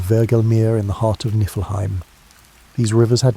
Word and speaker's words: Niflheim: To the north of this void lay Niflheim, pronounced Niflheim, the realm of ice and mist.